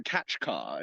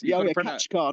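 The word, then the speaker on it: Kaçkar: been mispronouncing everything around actually I think it's the catch car like it's catch car not it's not Kat car I kept saying katar at the beginning it's actually catch car it's catch car okay catch car mountains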